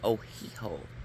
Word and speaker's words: Ohio: First of all, the word Ohio, the name Ohio, actually is pronounced like Ohiho because it is Indian.